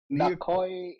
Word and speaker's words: Naoki: Like okay, so his name is Naoki.